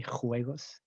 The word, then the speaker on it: juegos: olympic games we say juegos olympics very strong pronunciation of that j okay juegos and then mondiales the